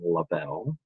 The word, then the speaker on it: Lavelle: this is uh mr lavelle um i pronounced my name labelle and this is pretty